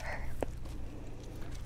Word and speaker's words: herb: all the commonwealth says herb and i've gotten in the habit of saying herb because there's an h at the front i don't know why we don't pronounce it and like if there